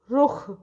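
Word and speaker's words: रुख़: देखिए यहाँ पे ख में एक छोटा सा डॉट लगाया गया है, तो इसका उच्चारण होता है ख, यानी मुंह से थोड़ी सी हवा निकाल के, रुख।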